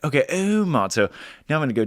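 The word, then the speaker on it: Åhman: D Aman it's so funny cuz the American pronunciation of Aman is obviously just Aman but a lot of listeners like it's Oman it's like okay it's Oman they're like no it's Oman I'm like okay Oman so now I'm gonna go David Oman for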